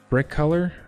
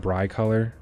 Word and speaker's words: Brick Color: I said his name wrong last time when he was here, and I feel kind of bad. I said Bry Color because it has Cole in it, and my name's Cole, so it's like I just